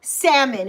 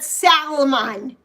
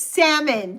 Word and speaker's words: salmon: Salmon. It's not salamon. It's salmon. The L is silent.